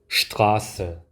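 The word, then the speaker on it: Straße: 쉬 발음이 나게 됩니다 슈트라스 슈트라스 스트라가 아니라 슈트라스 슈라 슈라 스라가 아니라 슈라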